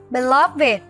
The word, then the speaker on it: beloved: Đuôi ED trong các tính từ sau đây sẽ được phát âm là IT. Các em sẽ cùng đọc với cô và hãy cùng nhớ lưu ý những tính từ này. Âm ED luôn luôn được đọc là IT. Aged, learned, beloved, blessed, naked.